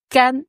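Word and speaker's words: 肝: D'abord le foi, la prononciation c'est can. Hm. Can. Premier ton. Ouais. G A N.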